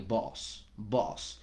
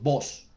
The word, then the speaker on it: boss: Sin embargo, la pronunciación varía, entonces hay que tener súper en cuenta que las personas tendemos a pronunciar el inglés como si fuera nuestra propia lengua. Entonces decimos voz, como si la O sonara directamente a lo que es la O del español.